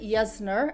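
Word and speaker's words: Jessner: you to reach for something like jesner you could pronounce it yesner after Dr yesner that actually created this peel but most people like to call this jesner sorry a little bit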